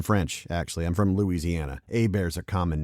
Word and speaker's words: Hebert: My name is Kyle Hebert, spelled Hebert, but it's pronounced Hebert, like, A bear is attacking me.